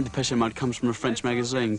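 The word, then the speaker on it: Depeche Mode: depes mod is just a word for fashion in French PES mode and we just decided we like the sound of that name and we chopped off the accent and we just kept the pronunciation the pese mode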